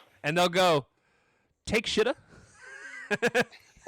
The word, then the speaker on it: Takeshita: And then it dawned on her she's like, "Oh, you mean Takeshita." He goes, "Is that's how that's pronounced?" She goes, "Yes." Yeah, cuz it really does look Well, we we joke. We call him take a shita all the time.